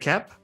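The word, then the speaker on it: Koepp: sam raimi written by david kepp and that's how you pronounce his last name writer of mission impossible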